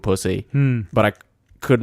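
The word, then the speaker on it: Psusy: But it's not spelt pussy, it's just pronounced pussy. Oh. So just to make spelt things... pussy. It's spelt... It's actually about infections, and it's called pussy. It's spelt P-S-U-S-Y.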